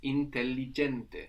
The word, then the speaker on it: intelligente: The word for intelligent is intelligente. Intelligente. We have two L's there and we pronounce them both.